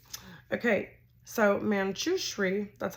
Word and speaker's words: Manjushri: depends on where you're from right okay so manchushree that's how you say it manchushri you can hear Divine guidance best by quieting